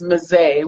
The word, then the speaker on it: Mezei: pet peeve for me she told me that it's mizei with a long egg okay tell me about